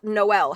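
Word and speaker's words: Jkmno: Jake J K M N O There are multiple people alive right now named J K M N O pronounced Noel.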